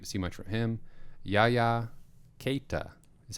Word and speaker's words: Yaya Keita: Yaya Keita is how they pronounced it on the broadcast.